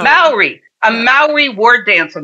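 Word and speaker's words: Māori: How do you call the native people of New Zealand? Maori. That one's hard for me. Maori. I think Maori. Maori.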